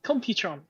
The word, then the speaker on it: Computron: I always say his name wrong. He's the only combiner who can. Computron. Computron.